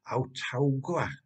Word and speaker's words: Autauga: on the article titled Autauga, County, Alabama, if that's the correct pronunciation. That's how we say it in Welsh, anyway.